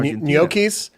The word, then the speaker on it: gnocchi: Gnocchis? Gnocchis, yeah. Like a potato gnocchi? I absolutely love that example. That's how you pronounce it, gnocchi.